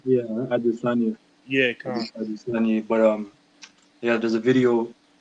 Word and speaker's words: Adesanya: Yeah, Adesanya.